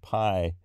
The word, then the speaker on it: pi: And because the pi is p and iota. And P and iota are the two letters in the name for the letter pi. And that's together, those are pronounced P.